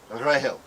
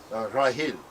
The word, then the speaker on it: Rachel: The original pronunciation of Rachel in all the Semitic languages sounds almost identical to Grail, Rahel, Rahil.